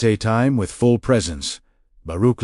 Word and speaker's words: Baruch: Baruch, let each syllable land fully before moving to the next. Feel the vibration of the KH sound at the back of your throat.